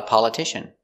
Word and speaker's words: politician: P, a, pa, l, pal, pal. Paula, Paula. T, t, polit, politi, politi, sh, politish, politish, politicia, politicia, politician, politician, z, politicians, politicians.